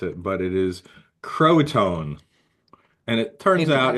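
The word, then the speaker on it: Croatoan: So okay, I put it in the chat in case I mispronounce it, but it is Croatone.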